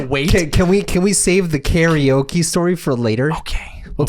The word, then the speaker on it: karaoke: It's like how we pronounce karaoke. Yeah. You know, we don't say karaoke, we say karaoke because it's the way you pronounce it.